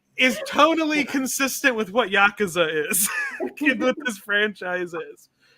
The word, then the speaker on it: Yakuza: we ever talked about the Yakuza franchise or Yakuza is the correct pronunciation I I've definitely heard of it I've